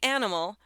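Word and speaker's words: Animl: The restaurant, the name is pronounced like animal, it's spelled an N I M L made the rather juicy offer in a post on Instagram on Monday.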